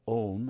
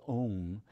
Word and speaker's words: Om: When one pronounces Om, the sound starts in the back of the mouth as an ah. Then it fills the mouth cavity as it goes, oh, right?